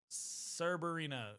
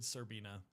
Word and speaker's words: Cerberina: You said it right the first time, then wrong. Cerberina. There we go. I said Serbina. Everyone just thinks that the second R in my username is silent or something.